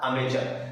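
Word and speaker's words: amateur: जबकि ये वाला जो वर्ड है इसको हम प्रोनाउंस करते हैं क्या, अमेचर।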